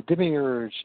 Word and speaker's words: Demiurge: How did you pronounce it? Demiurge.